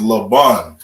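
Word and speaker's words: לבן: about an enough and because you we pronounce it we connect the ba and the na together and that law we pronounce on its own all right so white is laban and then we got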